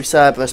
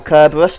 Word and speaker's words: Cerberus: one relentless assault and two cerberus paradigms or kerberos depending on your pronunciation either is correct and there's no quest